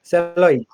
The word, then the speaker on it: Celloip: Kaushik at Celioip. Celioip? Is that how you say it? Celloip. Yeah, Celloip. Cell plus VoIP.